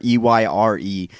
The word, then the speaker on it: Eyre: because Jane Eyre is, older people know how to pronounce it because they used to make people read Jane Eyre in school.